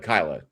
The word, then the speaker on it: Kyla: Is it Kyla? Not Kayla. Kyla. Kyla is how you pronounce it.